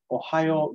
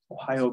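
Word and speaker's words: ohayō: the morning we say Ohio gozaimasu Ohio gozaimasu uh if you just go with Ohio that's casual and it sounds like the state right Ohio if you literally be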